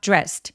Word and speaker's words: dressed: 성대가 울리지 않는 소리로 끝났으니까 내 눈에 아무리 e가 보이더라도요 e는 발음하지 않고이를 통째로 어떻게 발음한다? t로 발음합니다. 그래서 I got dressed. I got dressed라고 소리 내 주시면 돼요.